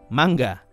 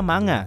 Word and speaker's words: manga: perkara mangga Iya mangga kata-kata gue sebut mangga karena memang pengucapan aslinya seperti ini gue sebenarnya ke bingung sih dengan pengucapan mangga bingung bukan karena enggak tahu cara bacanya Ya tapi bingung karena mau ngikutin yang mana di satu sisi netizen sebutnya manga tapi disisi lain ada yang bilang harus dibaca mangga jadi Yaudah